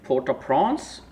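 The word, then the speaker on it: Port-au-Prince: calm while it lasts okay porta prawns is the pronunciation and letter of marquis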